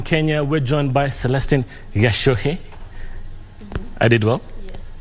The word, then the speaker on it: Gachuhi: Gachuhi. Let me tell you one thing before even we continue.